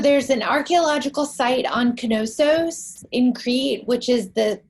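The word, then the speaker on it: Knossos: an archaeological site on canosos in crete which is the place where it's spelled k-n-o-s-s-o-s again maybe it's kenosis that's what i say and crete and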